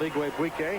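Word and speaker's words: Igwebuike: So Donald Igwe-Buike helping us with our announcing school practice on pronouncing his name.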